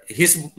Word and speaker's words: His: फिर यहाँ पे ये आ जाता है, इसको बोलते हैं bundle of हिस, HIS, हिज कह लो चाहे, बट हिस उसका प्रोनाउंसिएशन है, बंडल ऑफ हिस।